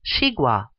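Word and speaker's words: 西瓜: is Chinese for watermelon this vegetable is pronounced shua every part of chigua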